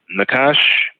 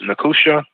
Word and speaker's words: nachash: So Nakash, also said, pronounced Nakusha, means brass, copper, bronze.